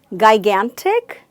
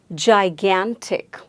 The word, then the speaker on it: gigantic: So the first sound made by G here is not G, but it's the sound J. Gigantic.